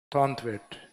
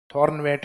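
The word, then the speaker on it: Thornthwaite: अब व्यक्तिगत वर्गीकरण में लास्ट है थॉर्नथवेट, या आदत है उसको साइलेंट कर देते हैं कई बार, थॉर्नवेट भी लिखा हुआ था ये सिर्फ।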